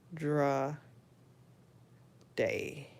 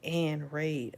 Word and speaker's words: Andra Day: That's how you pronounce it. Andra Day. Oh, I thought it was like Ann Raid.